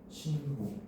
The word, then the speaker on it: 신고: 신고. 그렇지. 자, 요거를 발음을 할 때 어떤 경우는 신고라고 된소리 대기가 일어나는 경우가 있고 반면에 방금 읽었던 것처럼 신고하고 된소리 대기가 일어나지 않는 경우가 있다는 거죠. 알겠습니까?